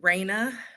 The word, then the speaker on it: Raena: Well, you definitely pronounced my name right, which is amazing. Raina, Raina, and hi to this amazing audience.